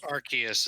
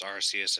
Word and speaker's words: Arceus: to use because it's arceus and japanese yeah i'll show you an arceus presumably this name was edited because they didn't want to have arse in it yeah yep anyway this